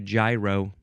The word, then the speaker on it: gyro: The British like to say gyro. Gyro. Okay.